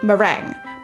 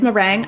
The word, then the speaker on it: Merengue: i eat it so i believe the name of this villager is meringue i do think it's a mistake on the localization team on the nintendo's part and they just never fixed it so she's merengue oh meringue it's up to you i mean it's kind